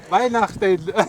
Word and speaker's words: Weihnachten: Weihnachten.